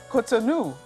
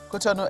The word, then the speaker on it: Cotonou: Igboho's arrest in, well, I want to pronounce that word Cotonou, because that's what my people call it, but Cotonou, yeah.